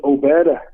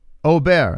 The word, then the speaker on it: Obed: Once again, it's Obed. It's Obed, by the way, from Mexico. I just wanted to tell you my name. You guys asked afterwards. Ober. Is that how you say it? It's Obed, O-B-E-D.